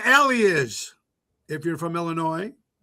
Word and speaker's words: Illinois: You know what an alley is if you're from Illinois. You don't pronounce the S at the end of Illinois.